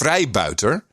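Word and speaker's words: freebooter: gain so very interesting he his pronunciation is somewhat off it's freibouter but but my understanding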